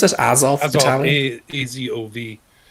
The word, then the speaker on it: Azov: The Azov Battalion?